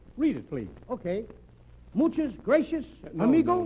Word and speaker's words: gracias: Muchas gracias, No, amigo. No, not gracious. That word is gracias. You see, in Spanish, the C is pronounced T-H. Gracias.